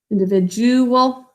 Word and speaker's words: individual: Probably a lot of you already realized we should have put a thinking cap on the D because it says a J sound. Sorry, I forgot to do that before, but let's do it now. Individual.